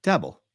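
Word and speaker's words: Daboll: Is it Dabble? Dabble. Brian Dabble. Right.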